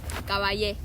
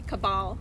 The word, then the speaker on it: Caballe: thank you congrats congratulations how do you say your last name again cabay cabay okay in English it would be cabal cabal but it's very weird